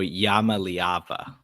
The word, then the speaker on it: Iamaleava: It's, by the way, it's Nikico Yamaava is how you say his last name.